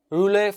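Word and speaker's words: rouleaux: the first stage is roulette formation relay formation uh well again this word is pronounced very very differently in different parts of the world i guess roulet is a correct pronunciation well stacks of rbcs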